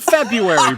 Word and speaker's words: February: there's no silent R I can give you one fantastic example for silent R and that's the month of February Brad wrong there's that